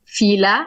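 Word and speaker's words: Philae: an island to like sometimes we say Fila in Arabic and filet in English Isis stem right so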